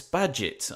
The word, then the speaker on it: Badgett: Belfast, we have Chris Badgett. And I've pronounced his surname correctly because just a moment ago he told me you pronounce it like Inspector Gadget.